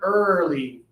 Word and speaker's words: early: Again to our friends on the socials watching live when you say this word the first hours of the morning when you're waking up it is early like birthday and Thursday and first.